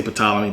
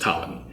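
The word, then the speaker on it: Ptolemies: the pamies or the Talam I always say pamy but it's it's actually pronounced tmy but um let's get into the tommies and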